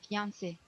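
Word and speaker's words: fiancé: it fiance is from French say fance say fiance and on French that's why you you see in like is the same the pronunciation is the same here in English Okay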